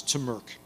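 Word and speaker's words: TMRC: the tech Model Railroad Club uh which you pronounced as AC acronym as T Merk uh Believe It or Not hacker ISM was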